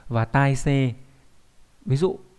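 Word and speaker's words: たいせい: Còn khi đọc là tai xê nó mang nghĩa là trạng thái, tình hình của sự vật, hiện tượng.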